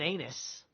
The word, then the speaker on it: Ananus: Jonathan an anus with latter son Ananis or an ananus I'm sorry it is an anus there's only one n so it's a long a that's how you pronounce